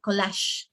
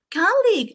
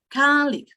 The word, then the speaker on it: colleague: My students would pronounce something like collage, all right? And when they see the phonemic transcription, they say, ah, colleague, and look, check, here we have an apostrophe. After the apostrophe, we have the stress. So it would be colleague. And I teach the intonation like singing, like na, na, colleague, and they love it.